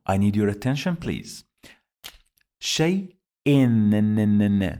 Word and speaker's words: شيء: Shai-in. Do you hear this sound of noon? Shai-in. This is because we have here hamza, and under it you find two kasras.